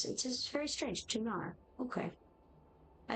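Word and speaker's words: Tunare: In fact, I've learned recently that it's pronounced Tuna, which is odd. Why is the E at the end? Why? It's just very strange. Tunar.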